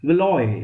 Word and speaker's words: Valois: Second one, that house of प्लेंटेजेंट and house of वेलवॉ, VALOIS, वेलॉय, इसको ऐसे भी उच्चारण कर सकते हैं.